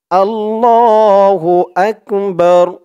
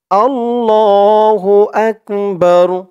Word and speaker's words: আল্লাহু আকবার: র ধরবে বা র জবর বার আকবার আকবার উচ্চারণ গুলো সঠিক ভাবে করতে হবে আল্লাহু আকবার আল্লাহু আকবার আল্লাহু আকবার প্রথম লাইনে দুইবার আল্লাহু আকবার আল্লাহু